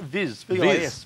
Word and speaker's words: Vis: Viz.